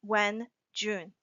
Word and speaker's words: Wenjun: My name Jun pronounced when June like you are asking when's your birthday and I say June.